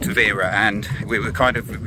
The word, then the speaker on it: Tavira: But I think it's called Tavira, and we were kind of read about it.